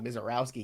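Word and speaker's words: Misiorowski: Oh, Mizorowski, you dumbass. Well, I mean, like, I'm not looking at his name. I see Mizorowski in there.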